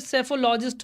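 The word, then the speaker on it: psephologist: चलिए तो सब लोग बोल रहे हैं गुरुजी सेफोलॉजिस्ट होगा, इसमें कोई गलती नहीं है क्योंकि इसमें पी साइलेंट रहता है।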